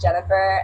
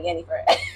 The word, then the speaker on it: Jennifer: Well, my full name's Jennifer, but American name way is Jennifer, and in Spanish term is like Yennefer.